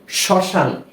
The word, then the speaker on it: শ্মশান: এর কোন উচ্চারণ আসেনি কেননা যদি কোন শব্দের প্রথম বর্ণের সাথে ম ফলা যুক্ত হয় সেক্ষেত্রে সেই ম ফলার উচ্চারণটা হয় না সেইভাবেই বা ওই নিয়মেই